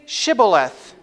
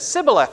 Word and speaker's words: Shibboleth: they said to him say Shibboleth and he said Shibboleth or he said Sibyl f excuse me for they could not pronounce it properly very funny so close